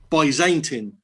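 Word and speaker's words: Byzantine: First thing, Dave, there's been some research done and apparently the word Baantine, the um a in the middle and you use a split diraph, so it should actually be pronounced by Zantin.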